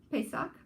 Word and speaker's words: Pesach: Pesach.